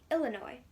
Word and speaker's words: Illinois: ticket to um well illinois no the s is silent wanna ride sure taxi